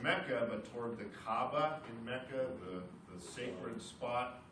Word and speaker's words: Kaaba: K-A-B-A, Kaaba. There's kind of a hiccup in the middle.